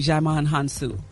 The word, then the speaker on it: Djimon Hounsou: Gary, you pronounce his name Djimon Hounsou, just so you know.